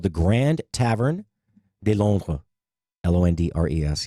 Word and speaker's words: Londres: Londres. Yes, that is actually how you say it.